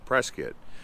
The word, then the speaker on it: Prescott: up right press kit well it sounds like prescott but most people here call it press kit you also have uh